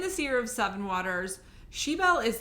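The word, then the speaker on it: Sibeal: is about Sean's daughter I think you say her name sheel it's like s i b e a l and um I owned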